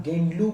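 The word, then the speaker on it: Gaidinliu: तो नागालैंड का जो क्षेत्र है, वहाँ से हमारी रानी, उनका जो नाम है रानी GHIDNILU, इसका नाम गेंडलू के नाम से प्रोनाउंसिएशन हुआ करता है।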